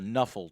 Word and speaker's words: Nuffle: I roll on the Nuffle table. And they call it Nuffle because they saw NFL and they just pronounced it out loud, and it's a way to get around the licensing for games.